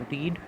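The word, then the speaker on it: read: चलिए आगे बात करते हैं, अगला वर्ड है रीड। रीड का प्रोनाउंसिएशन बदल जाता है, रीड रेड, रीड पढ़ते हैं, बट इसका अगर लिखने की बात करें तो तीनों की स्पेलिंग क्या होती है, सेम होती है।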